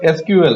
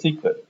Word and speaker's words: SQL: the target computer the एस क्यूएल that is called structured query language च इ also pronounced एस सीक्वेल स this एसएल injection